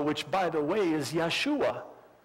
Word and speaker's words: Yeshua: law and Joshua which by the way is Yeshua it's Jesus that's the Hebrew for Jesus we don't pronounce the J in in Hebrew so yeah